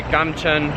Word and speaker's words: Gamcheon: what you're looking for, which fortunately in Korean is always what it's written in English for English letters. So Gamcheon is how you say it in Korean too. So if you just say Gamcheon or wherever it is